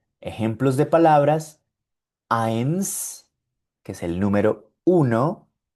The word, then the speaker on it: eins: Eins, mein, drei.